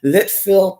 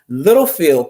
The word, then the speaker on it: Littlefield: Litchfield, Texas. Yes. No, I said it wrong. Littlefield, Texas.